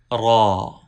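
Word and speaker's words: ر: Ra has full sound. Do not pronounce ra with thin sound. While pronouncing, raise tongue toward the palate. You can pronounce ra with full sound.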